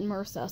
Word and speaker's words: MRSA: And even though it's spelled MRSA, believe me, the actual doctors call it MRSA, so that must be fine.